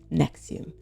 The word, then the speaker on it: NXIVM: Naretti claimed this is pronounced Nexium. Now you tell me how this concoction of letter is pronounced Nexium. That makes no sense.